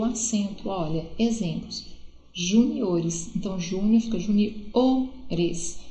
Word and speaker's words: juniores: Juniores, então júnior fica juniores, então a sílaba mais forte não é mais no Ju, é no O, ok?